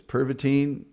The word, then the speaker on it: Pervitin: It's pervitin, but it's just a slightly unique pronunciation, but it doesn't matter.